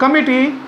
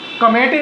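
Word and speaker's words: committee: द कमिटी, कमेटी नहीं बोलते हैं हिंदी में, उसको कमेटी लोग बोलते हैं। ठीक है, इंग्लिश का सही प्रोनाउंसिएशन है कमिटी।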